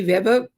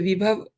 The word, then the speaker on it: विभव: वाले दिनों में कि विभव विभव ज़रा नाम कम होते हैं ना, तो विभव की जगह कई बार वैभव भी लोग भी और मैं भी उसको प्रोनाउंस कर रहे हैं।